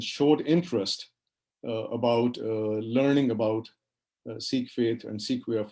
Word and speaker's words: Sikh: you pronounce the word Sikh? And so this slide tells you that it almost sounds like when a person is sick, and so Sikh is the right pronunciation.